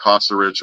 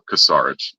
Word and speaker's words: Kosarich: Um it's can be pronounced Caserich or Casarich, which is how I pronounce it, but either way is fine.